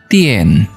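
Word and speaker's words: 店: Contoh, kalau kita kasih can, huruf can di dalam, ternyata bacanya jadinya tian, artinya toko ya.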